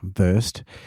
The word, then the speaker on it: VRSD: Our friends over at VRSD, pronounced burst, a luxury spirit company